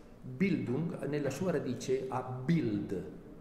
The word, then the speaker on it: Bild: educare vuol dire noi si pronunci si dice bill duke bild nella sua radice a